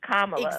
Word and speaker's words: Kamala: And I didn't trust him when he like her name is not difficult. It's Kamala.